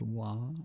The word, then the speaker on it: は: You can hear that the ha are pronounced wa.